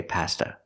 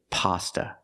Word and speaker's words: pasta: Pasta we don't say pasta not in America we say pasta use the short a sound like hot and stop pa pasta so the